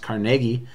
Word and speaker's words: Carnegie: The next guy here is Andrew Carnegie, or sometimes you hear his name pronounced Carnegie.